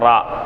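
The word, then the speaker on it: راء: நான் சொல்லல பாருங்க ரா எப்படி உச்சரிப்பீங்க அப்படின்னு சொன்னா மேல் பல்லை அடுத்து உள்ள மேல்முரசில் சற்று உற்புடத்தில் நாவின் நடுப்பகுதி படுமாறு உச்சரிப்பது மேல் பல்லின் அடுத்து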